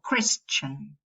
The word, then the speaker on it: Christian: Or Christian, you will pronounce a schwa.